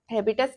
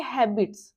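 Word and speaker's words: habitus: हैबिटस की बात करते हैं बो हैबिटस का मतलब देखिए हैबिट्स है ना लेकिन इसको प्रोनाउंस हैबिटस से ही किया जाता है जनरली ठीक है तो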